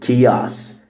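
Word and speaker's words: chaos: كياس هنا ال H silent والسي بتتنطق K فبنقول كياس. كياس.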